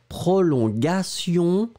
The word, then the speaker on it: prolongation: This is the way you should pronounce it, so one more time, A, prolongagaga, prolongation, and then the second one,